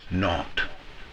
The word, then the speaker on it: naught: The 0 in the telephone number he pronounced naught.